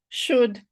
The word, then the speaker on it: should: we are not judging the L is silent. So let us practice saying could, should, would without the L.